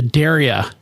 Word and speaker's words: Daria: So, uh, that's the Daria, and it is pronounced Daria, like I dare you to.